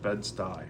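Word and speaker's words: Bed-Stuy: Oh, bedsty. Oh, it's pronounced bedsty.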